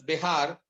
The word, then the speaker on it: Bexar: He is asked to give a special program for the inmates of the Bexar, pronounced as Behar, is the county that San Antonio is in.